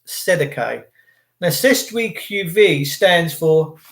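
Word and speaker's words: cestui que vie: And then the first thing that will come up is Sestui QV, which is pronounced Sedeke.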